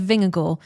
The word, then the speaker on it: Vingegaard: Just I heard it was meant to be go, as in G-O, and that is how I say go.